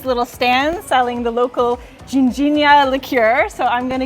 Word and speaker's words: ginjinha: Ginjinha. Ginjinha. Okay. Well, it seems a little early in the day for a tipple, but we've been seeing these little stands selling the local Ginjinha liqueur, so I'm going to give one a try.